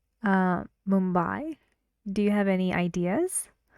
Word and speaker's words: Mumbai: example I went to Mumbai I went to Mumbai I went to Mumbai you see I say the stressed part louder and longer but the intonation is